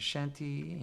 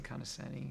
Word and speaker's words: Conoscenti: name well you know I hear I hear pronouncedanti or kind of Shanti and it means I've heard a few different